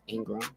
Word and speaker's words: Ingraham: is at Vina and it's built in graham ingr aham pronounced Ingram I'm also on LinkedIn